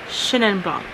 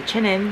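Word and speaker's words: Chenin blanc: a white wine green so it's shin and bong i say chinen because you know i'm asian and when i see that name i pronounce it like like chin like somebody's an asian last name but this is not asian wine so it's shining lock i think i want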